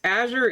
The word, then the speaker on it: Azure: Now, mind you, my name is pronounced a few different ways. Azure is the most common one.